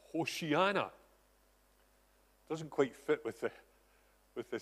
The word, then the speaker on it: Hosanna: and he says that we should not pronounce the word Hosanna, but Hoshiana. Doesn't quite fit with the singing, however. But that's apparently how it should be pronounced, not Hosanna, but Hoshiana.